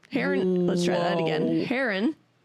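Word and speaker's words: Harron: Our director is Mary Hannon. Heron.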